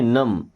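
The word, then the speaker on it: numb: इसको नम नहीं पढ़ेंगे। देखिए बी साइलेंट लोग क्या पढ़ेंगे? नम।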